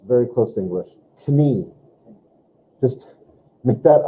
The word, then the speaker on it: Knie: Knie. Just make that I. You have to have the I to make an E sound. But in German, you got to pronounce the K and the N, yeah?